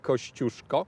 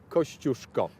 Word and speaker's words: Kościuszko: That's how this is pronounced, Kościuszko.